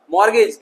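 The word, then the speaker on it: mortgage: यहां देखेंगे क्रिस्टमस नहीं है, टी साइलेंट हो गया तो क्रिसमस। इस तरीके से सॉफ्टन मुलायम। ऑफन प्रायः या हमेशा। मॉर्गेज गिरवी, गिरवी कहना है कि घर का कागज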